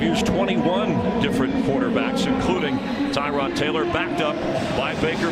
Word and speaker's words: Tyrod: Yes, Tyrod. Just ask him, and we did, to make sure that first name is pronounced that way.